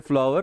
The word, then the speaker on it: FLWOR: अभी प्रोनाउंस हम इसको करते हैं फ्लावर, लेकिन स्टार्ट है आपका ये ऐसा है, FLWOR, ठीक है, ये पता है ना ये।